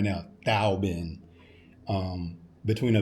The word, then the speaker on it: Tao Bin: with the machine, the Tao Bin machine. It's spelled T-A-O. So us as English speakers, we think it's a Tao, but it's not Tao, it's Tao. Tao Bin.